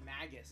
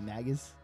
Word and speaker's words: Magus: I say Magus. What do now? I say Magus, like a magazine. I think it's Magus because he's a mage, right? So it would be Magus instead of Magus, but I.